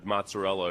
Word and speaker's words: mozzarella: about linguini or or mozzarella or something. Yeah. Mo Yeah, mozzarell. You have to say it like that. You have to cut off how Italians say